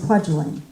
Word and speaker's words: Kwajalein: on TDYs to Kwajalein, which I guess is pronounced Kwajalein, but he always pronounced it Kwajalein.